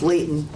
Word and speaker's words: Layton: is generally correct first language his name is leighton l-a-y-t-o-n correct okay and people usually get that